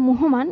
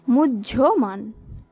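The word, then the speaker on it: মুহ্যমান: এরপর যে শব্দটি রয়েছে মুহমান, এই যে আমি উচ্চারণ করলাম মুহমান, এটি কিন্তু সঠিক নয়, এটি হলো ভুল, এর সঠিক উচ্চারণ হবে মুজ্জমান।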